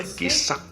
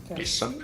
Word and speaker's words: kissa: Kissa, a cat, and we pronounce it by just combining all the different unique sounds together. Something like kissa, kissa. We just have to prolong the S because it's double S.